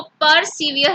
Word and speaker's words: persevere: सो सबसे पहला जो वर्ड है आज की हमारी क्लास का दैट इज परसिवियर। ओके, इसको परसिवियर नहीं बोलेंगे, the right pronunciation is परसिवियर।